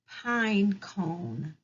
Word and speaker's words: pine cone: Remember, it has a magic E at the end, so the E is silent.